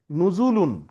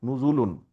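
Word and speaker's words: نُزُولٌ: নুজুলুন, কি? জের জবর থাকবে নুজুলুন। না কেন? নুজুলুন। তা আপনি উচ্চারণ বুঝছেন কেমনে? এই যেখানে লেখা আছে নুজুল, লাস্টে লুন লাগাই দেন, লুন, নুজুলুন।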